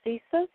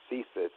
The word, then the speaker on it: CSIS: the CIA and you you said something about CSIS am i pronouncing that correctly yeah it's the Canadian version